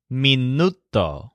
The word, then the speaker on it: minuto: word for minute is minuto with the stress on Newt Joel loves measuring time